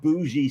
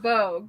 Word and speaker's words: Bogue: Oh, like rogue. Yeah. That's Bo. cool. Like rogue, but bogue.